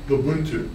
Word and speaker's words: Ubuntu: Was it I don't know how it's pronounced. Ubuntu? Ubuntu.